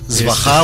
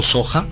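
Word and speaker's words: svāhā: Svaha o Soja, dependiendo la pronunciación tibetana o sánscrita.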